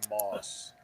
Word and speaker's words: Maus: guy so he says moss okay because he's got a lot of self-respect for me mouse just work actually mouse is the actual pronunciation of m-a-u-s so yeah that's why